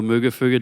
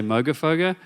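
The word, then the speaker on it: Moogerfooger: it's a mono um MOG or muga fuga depending on what part of the world you're from I think Americans say Moga foga and we say muga fuga and they always laugh at me if I say it in America um but basically that's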